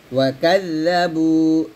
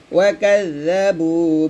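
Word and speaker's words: وَكَذَّبُوا: তারপরে ওয়াকাযযাবু, এই জাল উচ্চারণটা সাবধানে করতে হবে। জাল উচ্চারণ করার সময় জিহ্বাটা যেন কোনোভাবেই নিচে যাতে না লাগে, উপরে যাতে আগে লাগাবেন। ওয়াকাযযাবু বিআয়াতিনা কিযযাবা, ওয়াকাযযাবু বিআয়াতিনা কিযযাবা।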